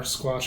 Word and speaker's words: Squatch: Squatch or Squatch, yeah, that's how you say it.